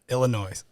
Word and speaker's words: Illinois: saying it salmon salmon Illinois Illinois the S doesn't know why yeah but why put